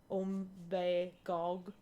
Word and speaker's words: Umbagog: It's an Abenaki word with a intonation that is not American English at all. And while I'm from New Hampshire, I'm not from the particular area that the comic takes place in, so it's more natural for the folks up there to know to say Umbagog, and like you say every syllable, but like in my